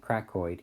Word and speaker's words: cricoid: Some people pronounce it cracoid, either way. But cricoid sounds better to me.